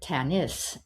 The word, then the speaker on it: Tanis: And I said, "It's Tanis. It means my daughter." He said, "Oh," he said, "in our culture, we pronounce it Tanis, and it means daughter to the people.